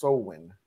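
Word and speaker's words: Samhain: It's pronounced Sowin. I know it's not reasonable.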